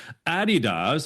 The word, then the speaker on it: Adidas: Navy, Adidas, that's how you say it properly, DocuSign, TD Bank, and Manulife.